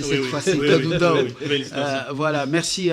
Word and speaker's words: Kadundao: J'ai bien prononcé cette fois-ci, Kadundao.